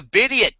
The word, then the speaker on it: Bidiot: And the reason why Pepsi man called it the Bidiot test because it rhymes with idiot and it was a satire spoof of a YouTube poop to us.